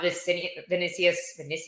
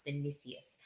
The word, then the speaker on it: Vinicius: So I feel like this was for me, I thought Vinicius, I would say his name wrong, it's Vinicius. I feel like he was almost getting a little exposed at the beginning of this fight.